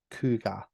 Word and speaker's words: Cogadh: And this is the EP is called Rune Tongue, and the band are Cougar. They're spelled Cogadh, but pronounced Cougar.